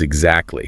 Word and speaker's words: exactly: A classic example is the middle T in the word exactly, which often disappears entirely. It becomes exactly, or the phrase I don't know often becomes I don't know.